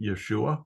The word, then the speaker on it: Yeshua: J in Jesus uh his Hebrew name was actually Yeshua which starts with a y sound as does Jesus so